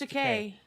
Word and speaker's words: Takei: George so it's Takei. Yeah, so it rhymes with gay. Remember this at William Shatner's roast. George Takei was asked to get up and roast William Shatner, and he said, "It's Takei, like toupee."